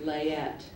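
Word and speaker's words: layette: h equ that is correct your word is leet language of origin French l a y e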